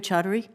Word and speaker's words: Chaudhary: Secretary Chaudhary, am I pronouncing your name correctly? Absolutely, Chairwoman. Thank you.